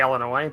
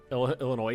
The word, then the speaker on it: Illinois: was it when somebody's like as to say Illinois but they decide to pronounce yeah Illinois is yeah they use the s4 note for